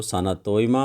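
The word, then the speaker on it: Sanatomba: नाम है ठीक है ठीक से मैं इनको प्रोनाउंस कर रहा हूं तो आप देख लीजिए आप भी एक बार इसको साना तोय मा हो गया आपका सानिया मा हो गया और सान जबा हो गया ये तीन उनके बेटे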